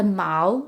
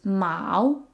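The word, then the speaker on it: 毛: fur or hair is Mao Mao it sounds like the word for cat but it's a different tone Mao so it's worth noting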